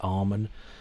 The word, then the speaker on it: Amen: out the way first some call it Armen which kind of makes sense because it's like the end of a prayer amen amen but I'm going to call it amen it's a bit of